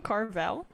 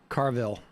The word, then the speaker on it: Carville: Don't James ask Carville. him. They sort of they just wheeled this guy out. Of Did all you call the him Carvel? Carville.